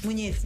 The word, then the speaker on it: Muñiz: Muñiz, resterei Muñiz, però si dice Muñiz, no, dillo Muñiz come se, come in italiano la GN, la perché GN. La N, diciamo la N con la righetta sopra, si pronuncia N.